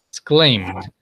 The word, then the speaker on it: exclaimed: Exclaimed, the I doesn't sound.